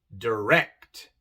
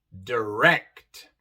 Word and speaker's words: direct: Igual en direct. Aquí viene la segunda sílaba, pero en esta palabra la segunda es la tónica, la acentuada. Y por eso se pronuncia E. Direct, direct.